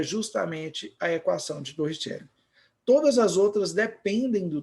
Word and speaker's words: Torricelli: Para quem é italiano, né, Torricelli. Aí eu costumo falar Torricelli mesmo. Aí vai da sua pronúncia.